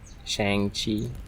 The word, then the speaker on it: Shang-Chi: Shang-Chi. That's how it's pronounced? Shang-Chi.